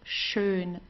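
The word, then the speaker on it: schön: Here you have an S ch. It's pronounced exactly the same way as the sh in in English. Okay. Like to shine or so. So, it's shun.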